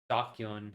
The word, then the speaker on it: DQN: Pronounced docu a thug bully or someone who's a part of the drag so drags of society.